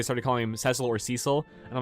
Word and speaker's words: Cecil: getting confused they started calling him cecil or cecil and i'm like no it's cecil but i'm